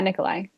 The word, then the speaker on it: Nikolai: Yeah, Yeah, Nikolai.